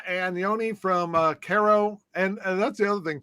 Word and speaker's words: Kyro: language i respect that so it's like illinois cairo like illinois oh yeah right yeah